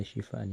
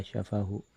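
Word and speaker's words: شفاءً: an yusamma ismuhu Ya, ini redaksinya illa syifaan ya, bukan illa syafahu.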